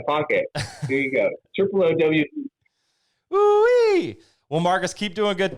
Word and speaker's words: Oowee: Ooh-wee.